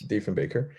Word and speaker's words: Diefenbaker: And do you think that NATO, as was raised by a prime minister whose name I always mispronounce, Diefenbaker, Diefenbaker, yes. Diefenbaker, thank you.